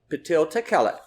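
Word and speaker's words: P'til Tekhelet: company that's called Patel to call it you spell that p-t-i-l and then t-e-k-h-e-l-e-t patil tequila if you put that into uh your YouTube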